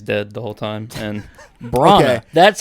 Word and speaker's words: Branagh: It's just Kenneth Branagh who plays dead the whole time, and Branagh.